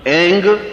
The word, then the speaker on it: ऐं: उस ऐं ह्रीं क्लीं, देखिए अब आपकी इसकी उच्चारण ध्वनि, एंग, रींग, क्लींग। मैं ग की ध्वनि के साथ उसकी बात बता रहा हूं।